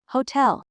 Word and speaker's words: hotel: Hotel. H second syllable. Hotel.